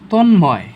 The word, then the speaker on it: তন্ময়: যেমন তন্ময়, ম উচ্চারণ হয়েছে না, তন্ময়, তন নতে ধাক্কা খেয়েছে তাই কি নতে হসন্ত হয়েছে, ময় ডিরেক্টলি আমরা মটা বসিয়ে দিব।